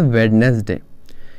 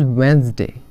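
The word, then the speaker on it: Wednesday: क्या बोलते हैं वेडनेसडे इट इज नॉट वेडनेसडे इट इज वेनसडे वेनसडे next is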